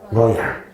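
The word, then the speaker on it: Luoyang: 러양. 이 러양을 우리가 옛날에는 낙양이라 부르기도 하고 혹은 나급이라고 부르기도 해요. 낙양 들어본 적 있죠? 낙양의 중국어 그 발음이 러양이래요.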